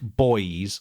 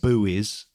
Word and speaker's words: buoys: So say you've got like you're analyzing out and you see pulsars and they're a bit like boys or buoys as the Americans might call them or as it's spelled or as it's spelled.